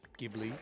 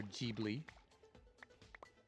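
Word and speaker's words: Ghibli: Is it kind of doing a a castle in the sky from U Miyazaki Studio Gibli or Jibli depending on how you choose to pronounce it.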